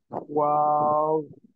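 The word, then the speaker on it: واو: তাহলে ওয়াও উচ্চারণ করতে গেলে ঠোঁটটা গোল করে, এরপরে ঠোঁট দুই পাশে ছড়ায় যাবে, যে তারপর আবার গোল হয়ে যাবে। ওয়াও। 3 আলিফ টেনে তারপর ছাড়তে হবে। ওয়াও, ওয়াও, এইভাবে। আচ্ছা, মাশাআল্লাহ, সুন্দর হয়েছে।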